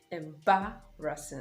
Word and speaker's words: embarrassing: situation in ba russen notice the stress is on the second syllable in ba russian and not embarrassing embarrassing